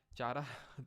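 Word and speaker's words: Chara: Example की अगर बात करेंगे तो स्पाइरोगैरा, यूलोथ्रिक्स, उल्वा और चारा इसके क्या हैं, चारा तो बोल देना, वैसे कारा इसको प्रोनाउंस करते हैं, ठीक है।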